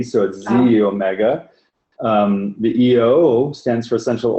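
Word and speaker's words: xEO Mega: so this is a X is actually pronounced like a Z so Z Omega the EO stands for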